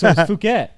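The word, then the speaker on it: Phuket: pronounced it is it not fuk so it's fuk yeah see I always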